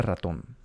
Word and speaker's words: ratón: las palabras es, entonces, ratón tiene dos sílabas, ¿no? ¿Sí? La primera sílaba siempre la haces desde el final. Siempre haces del final para atrás. Entonces, porque ratón tiene la fuerza de voz en la primera sílaba y termina en N, S o una vocal, le pones acento.